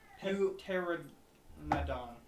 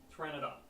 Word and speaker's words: Pteranodon: Pteranodon. Pteranodon. Yes, that thing. Oh yeah, that's right. The P is silent.